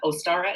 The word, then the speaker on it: Ostara: Well, and Ostara, is that how you say it? Ostara, Yes, as yes.